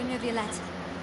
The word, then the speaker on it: Neuvillette: Thank you so much, Monsieur Neuvillette. We'll take See? our leave now. That's how you pronounce it. See, Navia knows, Paimon doesn't. Navia knows how to pronounce it.